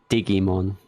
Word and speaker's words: Digimon: Oh, by the way, did you all, or did everyone know that Digimon in German is pronounced Digimon?